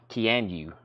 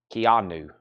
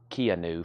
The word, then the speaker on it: Keanu: one's ripped and wrinkled Keanu Keanu Reeves yeah I think I've been saying Kean new for the longest I've never heard of